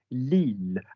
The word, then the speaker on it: Lille: There's a town in the north on the Eurostar called Lille, and you pronounce the L's.